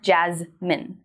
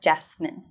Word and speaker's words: Jazmine: The way I think of it is my name's Jazmyn, not Jasmine.